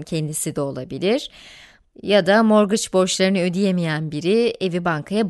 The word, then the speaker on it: mortgage: ya da mortgage deniyor İngilizceden değil fransızcadan geldiği için de mortgage diye değil arkadaşlar morg diye telaffuz ediliyor Her neyse bu işin